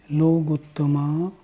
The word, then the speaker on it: लोगुत्तमो: जब हम लोगुत्तमा बोलते हैं ना, तो केवली पर्णतो धम्मो लोगुत्तमो, लोगुत्तमा नहीं लोगुत्तमो ऐसे बोलना होगा।